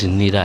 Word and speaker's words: زنیرہ: میں سے کوئی نہیں۔ یہ اصل اس کا تلفظ زنیرہ ہے۔ غلاموں میں زید بن